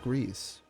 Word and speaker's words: Gris: But a quick Google search leads me to believe that because the studio is Spanish, it is pronounced Grease.